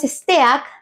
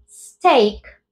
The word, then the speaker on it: steak: palabras cuchillo y carne Cómo se dice carne en inglés pues no es Steak sino Steak y Cómo se dice cuchillo